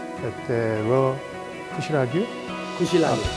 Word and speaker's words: खुसी लाग्यो: Is it right pronunciation? Better right? Better Kushalagyo. खुसी लाग्यो Kushalagyo.